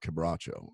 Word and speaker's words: Quebracho: How do you pronounce it again? Quebracho.